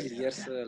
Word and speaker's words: Lierse: It was Lies. Is that how you pronounce it? Lies. Yeah, Lierse Eska. I just say Lierse, like, you know, like Lierse.